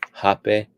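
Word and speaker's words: rapé: They will blow the tobacco into your nose, and it's called hape, and it's spelled RAPE.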